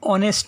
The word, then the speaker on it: honest: As an example, everybody respects an honest man. Here adjective honest begins with the letter consonant H, but its pronunciation is just like vowel O, so N is used before it.